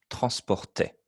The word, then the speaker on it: transportait: Even though it looks a bit funny, le A-I-E-N-T. En français, c'est le son est. Transportait.